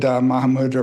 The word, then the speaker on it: Mahamudra: And then is that a good Mahamudra practice? Yes, thank you so much. I really rejoice that. So, Maha Mudara, so that's 2 kind of syllables.